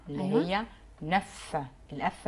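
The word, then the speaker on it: neuf: وعندي بعد كده رقم 9 اللي هي نف، الاف نطقناها في الاخر.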